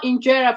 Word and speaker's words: injera: I want you to spell injera for me so I get the right spelling.